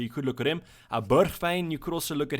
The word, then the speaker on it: Bergwijn: Bergwijn, you could also look at him. That's also Bergwijn if you are used to that pronunciation as a really differential